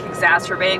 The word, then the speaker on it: exacerbate: best word but uh I like exacerbate because it rhymes with the word masturbate I'm sure there are other